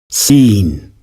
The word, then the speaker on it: scene: then you will probably pronounce these two words seen and seen in different ways when the pronunciation is exactly the same see this example again